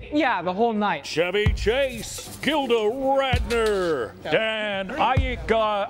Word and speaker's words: Aykroyd: Chevy Chase, Gilda Radner, Dan Aykroyd. How the fuck do you pronounce this?